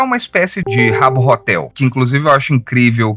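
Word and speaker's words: Habbo Hotel: é uma espécie de Rabo Hotel, que inclusive eu acho incrível que a gente pronuncia o H soprando o H, né? E Rabo Hotel porra, muito grande. Abotel também funciona, também é engraçado.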